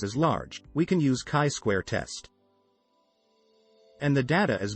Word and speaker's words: chi-square: The most important and most commonly used goodness of fit test is chi-square test, pronounced as chi-square.